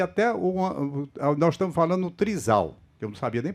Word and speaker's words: trisal: Entretanto, causa um choque muito grande aqui, até nós estamos falando no trisal, que eu não sabia nem pronunciar, era trisal, é trisal, né? Trisal. A pronúncia.